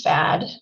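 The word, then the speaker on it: FHAD: hazard area delineation studies which we refer to by the acronym fad which is spelled f-h-a-d and these updated fad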